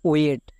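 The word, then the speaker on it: wait: ডব্লু এ এর জন্য ও এ, টি এর জন্য টো মানে ওয়েট। একই রকমভাবে দেখো ডব্লু এ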